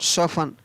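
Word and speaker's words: soften: SASTN हैशन, CHRISTMAS Christmas, SOFTN सोफन, MORTGAG mortgage. तो इन सभी में आप देख रहे हैं यहाँ पर टी का उच्चारण है वो नहीं हो रहा है, और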